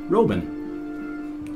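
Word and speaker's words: Roeben: It's German, pronounced exactly the way it's spelled. R-O-E-B-E-N, Robin.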